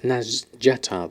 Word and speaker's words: Nazjatar: discover it's pronounced and as Jetta they've actually pronounce the J I thought it was as silent J but after hearing my